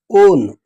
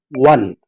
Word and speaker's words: one: This is not pronounced as own, it is pronounced as one, wa.